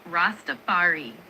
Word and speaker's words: Rastafari: It's pronounced roastafari. The emphasis is on the second part of the word on that fa sound. Would you like to try saying it? Rastafari.